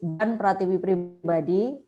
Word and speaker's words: Dian Pratiwi Pribadi: My name is Dian Pratiwi Pribadi. That's the right pronunciation in Bahasa Indonesia.